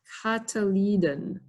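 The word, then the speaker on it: cotyledon: Cataliden. Cataliden.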